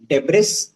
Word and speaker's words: debris: under malba which is debris but the s is silent so we say debris de e b r i s that is the uh stones and the rocks of the building.